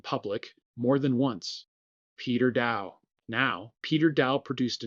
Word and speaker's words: Daou: His name is spelled d a o u and it is pronounced Dow. Rhymes with how. He has said so himself in public more than once. Peter Dow.